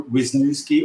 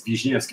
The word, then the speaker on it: Wisniewski: know my name which you can pronounce either Wiznookski or Vishnvki if you want to get ethnic officially if you want to get if you want to you know pronounce it properly it's Vijki oh thank you there